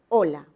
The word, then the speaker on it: hola: Yo pronuncio la O, ¿verdad? Otro sonido que he pronunciado es la consonante la L, y luego tenemos otro sonido más, que es la vocal. ¿Correcto? Ahora, tú te preguntarás, ¿y la H? ¿Qué pasó con la H?